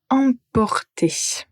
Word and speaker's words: emporter: La première n'a pas de nasal apporter. Et la le deuxième verbe c'est emporter.